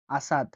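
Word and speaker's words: أسد: আলিফের উচ্চারণ আয়ের মতো হয়ে থাকে। উদাহরণ হচ্ছে আসাদ, আসাদ, আসাদ, আসাদ মানে সিংহ, আসাদ মানে সিংহ।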